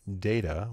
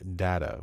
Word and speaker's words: data: It depends in part on whether you're speaking American or British English, but it's perfectly acceptable to use data, which is the American version that I usually use, or data, which is the British version.